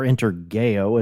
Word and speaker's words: Intergeo: to Frankfurt, Germany and attend Interjo or Interao as they pronounce it, the the soft G.